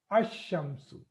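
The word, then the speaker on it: الشمس: is there but I'm just saying it ASU asamu okay that's why for people to read correctly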